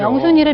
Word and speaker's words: 명순: 명순이가 경상도 발음으로 네, 맹순이죠. 명순이를 맹순이라고 예.